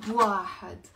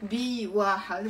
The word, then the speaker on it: بواحد: منقول 3 بواحد. 3 بواحد. It's usually B but we abbreviate it. We never say 3 B واحد. We're saying 3 بواحد.